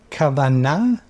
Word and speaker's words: kavanah: Am I pronouncing the word correctly? Kavanah?